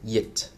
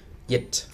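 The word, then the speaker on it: dịch: All right, next we have the letter D, which is not pronounced as D, but more like the English Y sound, as in yes. For example, yit means translate, yit.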